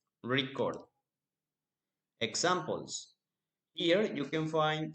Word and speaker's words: record: When record is used as a noun, the stress is on the first syllable, record. But when we use the word record as a verb, the stress is on the second syllable, record.